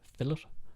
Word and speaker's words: filet: are irish you know filet is pronounced filler because we have no idea how the french language is meant to be pronounced if there's an e t at the end that means and we